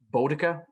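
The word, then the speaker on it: Boudica: where slain goes and hangs out with um botica that's how you say her name the celtic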